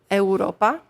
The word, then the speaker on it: eŭropa: And U with a little, like we call it a hook, is a W sound. OK. So, like, for example, the word eŭropa means European.